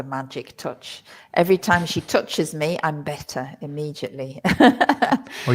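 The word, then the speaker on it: touché: Well, Touche? the thing is, it looks, you'll see that word in English, and it looks like touch, but you shouldn't pronounce it as touch. You have to say touche.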